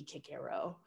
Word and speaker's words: Cicero: said i i misprint i mispronounced cicero but everybody knows what i mean when i say cicero but it should be kick arrow um so so kind